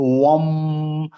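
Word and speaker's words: वं: दीदी इसका जो प्रोनाउंसिएशन होगा, वाह के ऊपर चंद्रबिंदी है, तो वम थोड़ा लंबा जी, हो जाएगा, अंक की लंबा बिंदी के कारण।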